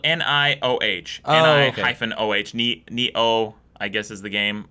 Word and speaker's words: Nioh: I'm also really looking forward to Neo.